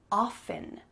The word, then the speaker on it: often: letter that could be silent or could not be silent, and both are correct. Apparently, several hundred years ago, Queen Elizabeth I in England was found to have not used the T in her pronunciation. She said often. But at the time, during her reign in England, it was common to use the T for like academians or highly educated people.